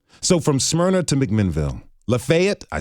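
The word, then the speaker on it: Lafayette: So from Smyrna to McMinnville, Lefayet, I said it right, to Promised Land to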